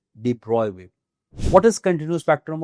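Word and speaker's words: de Broglie: नाम है डिब्रॉय वेव लिखने में डी ब्रॉग है प्रोनाउंस करने में इट इज डिब्रॉय wave what is continue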